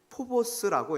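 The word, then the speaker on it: φόβος: 여기서 경외라고 번역된 헬라어 단어는 포보스라고 읽는데 막 무서움에 떠는 공포심이 아니에요.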